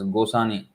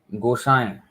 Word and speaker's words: गोसाई: This is the many devotees pronounce this as Gosani. He's not a Sindhi fellow. This is Sindhis. Their name ends with Ani. Anyway, Gosai. There's a nasal sound.